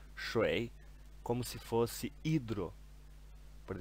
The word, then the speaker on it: 水: E a pronúncia dele é shui no terceiro tom, ok?